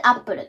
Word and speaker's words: Apple: こちらでアップルと読みます。